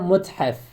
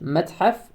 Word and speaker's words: متحف: متحف means museum, or متحف. There are actually two ways to pronounce it, متحف or متحف.